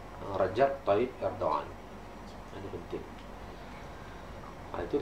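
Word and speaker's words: Recep: untuk memimpin dunia islam Rajab Taib erdoan ejaannya r e c p c tu bunyi J ha jadi jangan resep resep Tayib Erdogan itu memang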